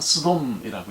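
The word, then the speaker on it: סדום: 소돔, 히브리 말은 스돔이라고 읽습니다. 스돔은 burning, 불타다라고 하는 그런 뜻이에요.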